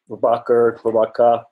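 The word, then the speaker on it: Prabaker: And Prabhaka, which is the soft R of the Australian, you know, they kind of tend to lean on that, but Prabhaka is Prabhaka is how they tended to pronounce it.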